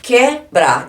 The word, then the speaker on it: quebrar: eu pronunciei o u e agora quebrar eu não falei quebrar eu falei quebrar então eu não pronuncio esse U aqui ó eu falo esses